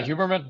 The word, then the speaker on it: Huberman: Um, in your talk, I think of uh things that Huberman, is that how you pronounce his name? Yeah, Huberman.